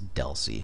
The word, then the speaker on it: DLCI: Data Link Control Identifier, DLCI, which is pronounced DELCI. That's how you're going to hear it 99% of the time, is DELCI.